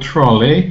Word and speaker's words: trolley: looked at the word trolley and we said it has a suffix ey suffix trolley probably so we don't pronounce e y as a long vowel sound because it's not stressed rather it's a short